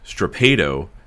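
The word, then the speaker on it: strappado: It is actually pronounced strapado, and it is a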